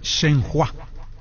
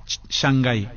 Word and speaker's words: Shenhua: Shenhua. Shanghái. Así se pronuncia.